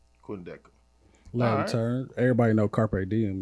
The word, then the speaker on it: Quindecim: about man is the road man and it's pronounced what Quin deham Quin deham Quin deham turn everybody know carp DM if you went